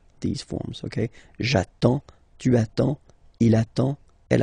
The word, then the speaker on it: j'attends: Okay, you get D and S, well, basically you don't pronounce them, okay, and then you get only the sound attends, nasal here, en, j'attends, okay.